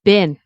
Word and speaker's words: been: Been, Americans, Canadians, we will pronounce it as, oh, what's going on here? I'm going to try to make it so it doesn't disappear. B-I-N. B-I-N. We pronounce it as been, okay? So you could say, I haven't been, but we say been.